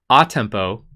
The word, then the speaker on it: a tempo: which is and then we have that here a tempo is the way we pronounce that tempo means the tempo of the